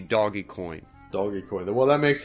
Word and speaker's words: Dogecoin: it dog coin and dodge coin and doge coin pro there's guys there's somebody out there that calls it dogecoin i think the correct way to say it would be doggy coin doggy coin well that